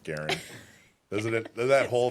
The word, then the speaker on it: Garand: Do you even more appreciate the T-shirt actually it's pronounced Garen?